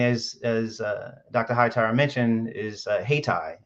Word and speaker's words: Haytii: Hightower mentioned, is HeyTie. It's spelled Haytii.